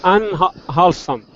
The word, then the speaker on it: unwholesome: This unwholesome.